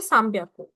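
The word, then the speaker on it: 三百: सान ब्याक को लेकिन जब आप उसको प्रोनाउंस करोगे तो आप उसको प्रोनाउंस करोगे साम्याकू।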